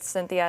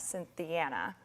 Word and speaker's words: Cynthiana: TV market right now pronunciation on that I said Cynthia it is in fact Cynthiana that's all right so